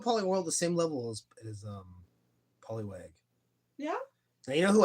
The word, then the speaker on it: Poliwag: All right, Poliwag or Polytail, depending on who you ask. Poliwag. He had a different name? He does in the Poke Rap. They say his name wrong in the Poke Rap. Polytail?